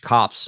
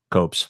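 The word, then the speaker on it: copse: right near this huge cops of trees you know basically a little forest coat they're cops copes whatever however you want to pronounce it yeah well if you've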